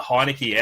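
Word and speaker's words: Heinicke: almost out of reach for us but Taylor heinecke our man uh Danny that's how you say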